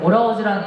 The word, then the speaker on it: ALL(H)OURS: 저는 오라우즈라는 이름을 처음 들었을 때 사실 조금 평범하다고 생각을 했거든요. 근데 저희 팀명 표기의 특이한 점이 이제 묵음 H가 중간에 있습니다.